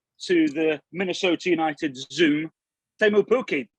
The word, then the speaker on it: Teemu Pukki: So my understanding, your name is pronounced Teemu Pukki.